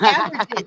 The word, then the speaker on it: ambergris: Oh, it's ambergris. Oh, that's okay, because AT2 already did. It's ambergris. Is ambergris? Yeah, ambergris is a rare and highly sought after secretion produced in the digestive system of sperm whales.